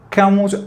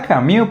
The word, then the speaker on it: Camus: Camus habla de estar minado. Bueno, se pronuncia Camus, pero pues yo le voy a decir Camus porque así todos le decimos todos.